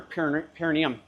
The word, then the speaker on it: perineum: And another one is, you don't sit on your perineum. You don't support your weight on your perineum. Perineum. You got to have the emphasis on the correct syllable.